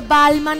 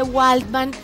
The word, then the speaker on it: Waldman: Hollywood primero que todo Cómo se dice tu apellido Bueno hay gente que dice balman hay gente que dice walman una vez me pasó